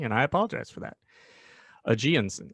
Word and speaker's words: Ageonsen: i apologize for that ajiansen i like that jinsen so it's uh aji plus a hot spring cool yeah i think